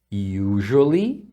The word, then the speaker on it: usually: dizendo usually significa geralmente essa palavra a gente pronuncia com um som de J aqui no lugar do S então é significa